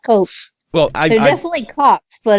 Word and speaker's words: Koch: I believe it's pronounced Koch.